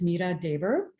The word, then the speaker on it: Meera Dhebar: back up a bit so my name is pronounced Mira Deber I'm situated today in the unseated territories of